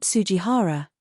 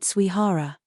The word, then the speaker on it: Suihara: Not Sujihara, Suihara. You always mispronounce names. It's rude to get people's names wrong. You need to be more careful. But it's written Sujihara, isn't it? It's written Sujihara but read Suihara.